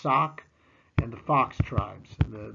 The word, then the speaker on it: Sauk: whites pushed further west these two tribes are the sauk pronounced sock and the fox tribes